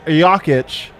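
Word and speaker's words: Jokić: he talking about us because i know it's actually nicola nico and it's jakitch what yeah you guys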